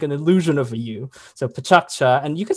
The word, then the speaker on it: PechaKucha: how you pronounce it you pronounce it with three syllables with the middle one being pretty tough pretty hard i should say so uh it's pachaccha with the k bouncing